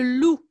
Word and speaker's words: loup: cinéma très bien oui bravo vijaya loup le loup le loup qui a un pet finale mais ne se prononce pas s'est pas loupé cellou bravo ranque